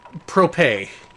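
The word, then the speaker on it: Prope: report this is this this throw propay is how it's pronounced okay this is a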